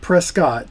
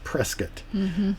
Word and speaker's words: Prescott: And that's looks like Prescott, but it's Prescott. And a local will correct you pretty quickly.